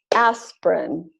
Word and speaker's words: aspirin: syllable is dropped so all of these words that look like they should have three syllables are typically pronounced with only two syllables so all of these words are pronounced aspirin average Barbara business camera